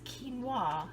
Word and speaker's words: quinoa: time and we just laughed but it is quinoa is the pronunciation so quinoa has got to be rinsed